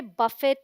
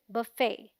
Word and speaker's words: buffet: The BUF sounds like buff, which rhymes with fluff, and the FET has a silent T, so it sounds like fay, as in say, and is the stressed syllable, meaning इस पर थोड़ा जोर देकर बोलेंगे, fay, ना कि fe. So the right pronunciation is buffet.